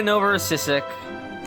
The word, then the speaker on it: Novorossiysk: Right, we're going to Novorossiysk. Thank you for teaching me how to pronounce.